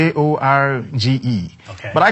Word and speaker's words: Jorge: Yeah, it's it's not pronounced as George. It's Jorge.